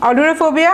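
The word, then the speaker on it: ailurophobia: অলিউরোফোবিয়া আমি লিখে রেখেছি, দেখেন বানানটা AI হলেও উচ্চারণটা, প্রনাউন্সিয়েশনটা কিছুটা এর মতো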